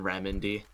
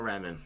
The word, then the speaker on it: Remind: Is that Riemann or Remen? How would you pronounce that? Remind. Oh. Oh. As I was looking through the rest of the word, I was like, I wonder how. It's remind.